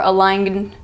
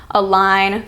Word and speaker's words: align: See how the G is silent? You don't say design or campaign or align. You say design, campaign, align.